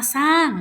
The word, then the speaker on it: สร้าง: คะ คำ ต่อ มา สร้าง นะ คะ พอ เวลา เรา อ่าน เรา จะ ตัด ร เรือ ออก ไป เสียง ของ มัน ก็ คือ สร้าง นะ คะ คำ ข้อ